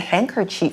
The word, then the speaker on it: handkerchief: 那这边看到两个名词啊，第一个我们讲到的是 handkerchief，要注意它的发音哦。虽然呢字中有一个 k，好，可是字中有一个 d，但是 d 是不发音的。好，我们直接念 handkerchief 就可以。那再来还有 sword 也是 w 不发音，好，所以念 sword，那指的就是剑或是刀。